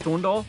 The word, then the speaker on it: Thorndarf: burton guster sean de thorndarf it's pronounced thorndall it's a silence i'm a catch necrobutcher